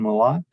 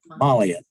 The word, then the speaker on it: Molliot: And with us today is Jason Malott. That's not quite, how'd you pronounce it? Molliot. There you go.